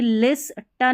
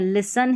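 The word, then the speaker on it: listen: श communication communication and अब यह लिस टन नहीं है लिसन है क्योंकि एस टी ई एन जब भी ऐसे रहता है यह पैटर्न तो टी यहां पर साइलेंट रहता है तो लिसन पढ़ेंगे लिसन केयर सी ए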